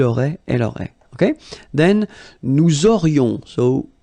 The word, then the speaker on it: nous aurions: Then, nous aurions, so this little link between the two, this liaison, nous aurions, final S not pronounced.